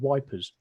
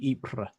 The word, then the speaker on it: Ypres: Julia wish but it's that similar sort of mispronunciation that in the First World War it was called wipers where it's actually Ypres ah y PR es but all the old